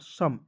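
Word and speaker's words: some: है उसके बाद देखेंगे एस ओ एम ई क्या पढ़ेंगे दोस्तों एस का होता है स और एम का होता है म सम ओ और ई को इसमें साइलेंट रखते हैं ठीक है किसी भी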